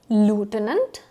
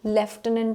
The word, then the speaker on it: lieutenant: is actually pronounced as lieutenant. lieutenant and left tenant as well. Left tenant in British English and lieutenant in American English.